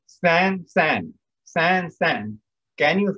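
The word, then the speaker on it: 三: And how is 3 pronounced? San, San.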